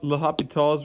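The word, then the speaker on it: L'Hôpital: is and it's called lahapital's rule not even great at pronouncing it but that's what it's called some people call it the hospital rule that looks like hospital right so the idea is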